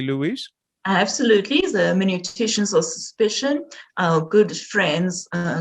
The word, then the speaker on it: hermeneuticians: Her field of interest includes post-Christian philosophy, in particular the hermeneuticians of suspicion. Did I pronounce that correctly, Louise? Absolutely, the hermeneuticians of suspicion, our good friends, Karl Marx, Friedrich Nietzsche, Charles Darwin, and whom am I leaving out?